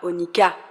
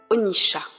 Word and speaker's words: Onycha: On le prononce parfois Onika, parfois Onisha. Ici, nous retiendrons la prononciation ancienne, Onisha.